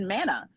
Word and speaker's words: Manna: Manna. Yes, Manna.